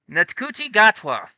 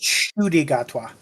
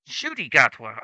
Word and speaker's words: Ncuti Gatwa: The new Doctor has been named, and it is Natkuti Gatwa. Did I say that right? I think I did. Pronounced Ncuti Gatwa. Ncuti Gatwa, okay.